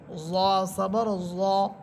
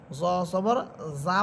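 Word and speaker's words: ظَ: জ হরফের উপর জবর দিলে উচ্চারণ হবে জ জবর জ, জ। জ জবর যা পড়া যাবে না, জ মোটা করে।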